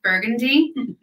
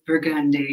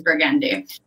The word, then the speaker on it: Burgundy: purple people who aren't from here and who pronounce it burgundy the proper way for this product to be pronounced if you're in new orleans is burgundy yes some people call the color burgundy but